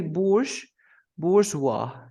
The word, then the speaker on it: bourgeois: But you say bourgeois. You never pronounce it with the S, of course.